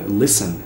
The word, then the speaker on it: listen: esse w ou mesmo Listen listening que é o assunto desse vídeo você não pronuncia esse t e essas outras palavras